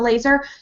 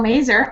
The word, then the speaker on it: Mazur: and we have Michelle Laser. Oh, excuse me, Laser rhymes with Mazur. Michelle Mazur.